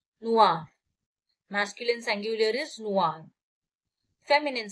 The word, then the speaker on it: noir: Pronunciation stays the same.